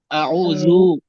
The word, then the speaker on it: أعوذ: জাল উচ্চারণ নরম হবে, আউযু, যু।